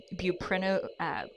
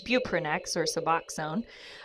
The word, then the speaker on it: buprenorphine: referenced in your book is view print buprenorphine I'm sorry it's buprenorphine and it's spelled bu